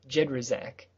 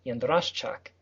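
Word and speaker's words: Jędraszczak: It has been simplified for silly Americans down to Jedraszczak. Jedraszczak. Yeah. Okay. But the original Polish pronunciation is Jedraszczak. The SZ is a sh, and the CZ is a ch.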